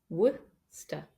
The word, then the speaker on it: Worcester: It looks like it has far more syllables than that, but we don't pronounce them. Just Worcester.